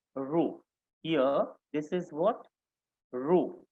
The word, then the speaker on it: rho: Rho, R-H-O. This is the pronunciation.